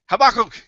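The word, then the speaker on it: Habakkuk: say it for me habak Hab Hab three in in multicab habic in multicab in multi slabic uh Hebrew words the emphasis is almost always on the last syllable okay in habul 3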